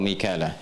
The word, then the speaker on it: Mikal: kan kemudian sampai ketemu kalimat wa jibrila wa Mikala Jibril dengan Mikal Mikal itu riwayat hafs dari